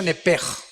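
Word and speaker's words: נפש: Digo, por favor, esta palabra alma en el original hebreo es la palabra nepes. Apúntala como suena nepesh con sh se pronuncia nepej.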